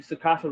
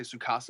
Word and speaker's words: Tsukasa: So, honestly, what I think is going to happen, like, Tsukasa, you say Tsukasa is how to pronounce it? Yeah, I believe so. So Tsukasa, he's not stupid.